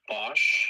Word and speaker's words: Bosch: It's pronounced Bosch.